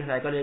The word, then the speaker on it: Psychology: उसमें से P silent है, SY का उच्चार साय होता है, CHO का उच्चार चो नहीं होता है, को होता है, GY का उच्चार गी नहीं होता है, जी होता है, फिर भी आपको सही लगता है।